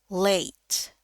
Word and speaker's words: late: A dengan E ini artinya bacanya jadi biasanya dibaca jadi A. Late, ya, late. Jadi bukan let.